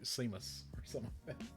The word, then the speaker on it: Seamus: I mean you have trouble with the word Seamus what damn it no you keep you guys could go on like Sheamus it's cuz it's spelled seasons yep Sean s EAN it's all